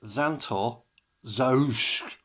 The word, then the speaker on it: Xanto Zazzoosh: It's Xanto Zazzoosh. Spelled with an SH on the end, not a K.